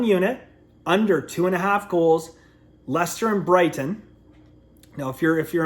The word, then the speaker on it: Leicester: So 1 unit, under 2.5 goals, Leicester and Brighton. Now, if you're American or Canadian, I say Leicester, but it's spelled like Leicester or something, but it's Leicester.